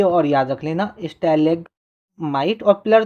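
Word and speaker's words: stalagmite: स्टेलेगमाइट बोला जाता है।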